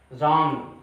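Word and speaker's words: wrong: तुरंत बाद R आ जाए तो आपका W साइलेंट हो जाता है। जैसे राइट, राइट मीन लिखना, रॉन्ग, रॉन्ग मतलब गलत।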